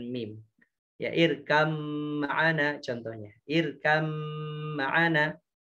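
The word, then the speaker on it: ارْكَبْ مَعَنَا: Irkam ma'ana. Bacanya bukan irkab ma'ana tapi irkam ma'ana.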